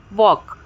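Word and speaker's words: walk: टॉक बोल रहे हैं वॉक वॉक में भी एल साइलेंट है चौक चौक में भी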